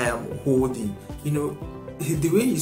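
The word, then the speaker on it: HODLing: Now this is called holding, right? And it's not spelled the conventional way, it's spelled H-O-D-L-I-N-G.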